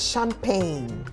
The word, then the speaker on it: champagne: a particular one cha c-h-a-m-p-a-g-n-e okay that's champagne why is this champagne is it not the chi sound now um the English